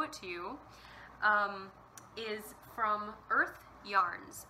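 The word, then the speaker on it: Urth: to you, is from Earth Yarns. And Earth is spelled U-R-T-H, but it is kind of a play on Earth, like our planet.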